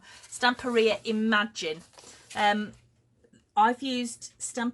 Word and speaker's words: Stamperia: other two as well this is the some area or stump area because I keep saying it wrong stamp area imagine um I've used